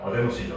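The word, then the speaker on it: 아데노신: 자 편의상이 아노신이라 있지만 정확한 발음 어데노신이죠.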